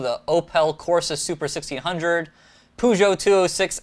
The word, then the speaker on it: Peugeot: over us French citizens just Europeans about the pronunciation of I I've always heard as pujo somebody actually did some uh you know pronunciation